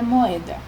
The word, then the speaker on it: moeda: Note que moeda há uma pausa. Moeda. Moeda. Note que há esse espaçamento na pronúncia das vogais. Moeda. Então, você já pode perceber que moeda também é uma palavra trissílaba e que o O e o E ficam separados.